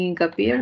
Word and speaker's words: hincapié: Y en hincapié, igual vamos a subrayar. Sílaba tónica, pie.